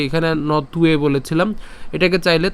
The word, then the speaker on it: ত্বে: নথ, এই যে এখানে নতুয়ে বলেছিলাম, এটাকে চাইলে ত পর্যন্ত উচ্চারণ করতে পারেন, তাহলে নথ উচ্চারণ হচ্ছে। এবং এখানে যে উ আছে অর্থাৎ ব অন্তস্থ ব আছে যার উচ্চারণ উয়োর মতো হয়, তাহলে এখানে হচ্ছে উয়ে উচ্চারণ হচ্ছে।